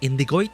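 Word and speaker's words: Indigoite: Scarletthorn, indigoit, and other ore. That's how you pronounce it. Indigoit.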